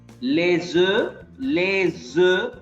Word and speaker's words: les œufs: Les œufs, S is pronounced as Z.